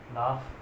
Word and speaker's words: laugh: जैसे night word है, ठीक, ये नाइट, इसमें भी GH जो है वो साइलेंट रहता है, नाइट योद्धा होता है। लाफ देख लीजिए, LAUGH, लाफ।